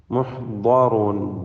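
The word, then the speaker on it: مُحْضَرُونَ: മുഹ്ദറൂൻ. ദ്വാദ് പൂർണ്ണമായ തഫ്ഖീം നൽകി തടിപ്പിക്കുക. റായിനും തഫ്ഖീം നൽകി ഉച്ചരിക്കുക. അപ്പോൾ ജുന്ദും മുഹ്ദറൂൻ.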